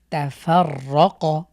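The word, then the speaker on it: تَفَرَّقَ: সর্বশেষ শব্দটি হলো তাফাররাক, তাফার, এখানে ফা এসে রকে ধরবে, তাফাররাক, তাফাররাক।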